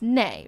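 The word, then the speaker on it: née: Is it Nay? Is that how you say it? Or Nee? It's Nay, right? Farley, like the previous last name. Nay, like a horse.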